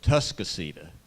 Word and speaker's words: Atascocita: want want to congratulate at tascas or as the locals say tuscco High School uh for their